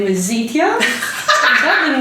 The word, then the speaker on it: Zeeteah: And I said, well, if you can say Beyonce, you can say Zeeteah. You know, 3 syllables there.